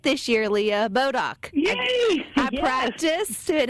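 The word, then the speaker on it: Bodock: and I said it right this year Leah bodok I practice and it's hard to believe that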